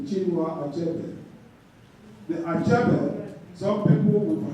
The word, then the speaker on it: Achebe: So they say Chinua Achebe. The Achebe, some people would have pronounced it as Achebe. It's not the CH. First you say A, and the CHE, Che, and the BE, Achebe.